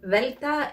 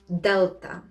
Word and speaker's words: delta: so to begin with velta is not delta delta enfita in english